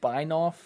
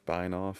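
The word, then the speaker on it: Benioff: Mark Beinoff. Yes. Was that German? I don't know. I mean, I pronounce it the German way with the I after the E.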